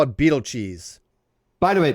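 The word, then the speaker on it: Betelgeuse: Has somebody accepted pronunciations? I call it Beetlecheese. By the way, Beetlegeese is brightening.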